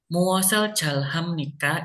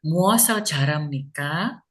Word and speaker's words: 무엇을 잘 합니까: Oke, semuanya udah bagus, cuman nomor 5-nya muasal jalham nikah, ya boleh juga, cuman lebih enaknya bacanya muasal jaram nikah, muasal jaram nikah gitu ya, R sama H-nya jadiin satu ya, muasal jaram nikah gitu.